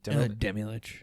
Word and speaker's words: Demilich: It is Demilich. Is that how you pronounce that guy's name? Demilich? Yeah, Demilich.